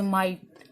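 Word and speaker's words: might: ठीक है, तो इसी तरह से माइट। ठीक है, माइट, तो यहाँ पर G और H जो है वो साइलेंट हो गया।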